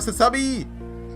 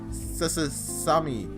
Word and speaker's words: Sasami: Oh, she reminds me of a Sasugawa Sasami! Oh, I actually said it right that time, I think. I usually add a 3 Sasasami.